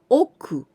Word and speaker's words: 億: So this 4, man, and the next 4, we pronounce oku.